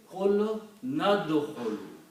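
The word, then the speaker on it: قُلْنَا ادْخُلُوا: Now, when you read these things together, qulna and udkhulu, you do not pronounce this alif here. You combine noon with dal, so you pronounce qul nadkhulu.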